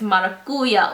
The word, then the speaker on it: maracuja: tart maya kuya oil she taught me how to pronounce it for like like for real like its mother Coolio oil so i used to